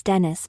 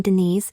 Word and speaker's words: Dennis: kind of my nickname because my name is Dennis but I prefer because others pronounced my name Denise and I don't like